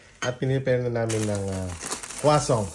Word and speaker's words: croissant: kami sa bahay at pinipare na namin ng croissant. How do you pronounce this one in French? Croissant. Croissant. But sa iba, sa English, croissant. Croissant. Croissant. Ang unang basa ko, croissant. Sa French, croissant. Asa. Kwasong.